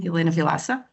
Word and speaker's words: Helena Vilaça: You pronounced correct the name, Helena Vilaça.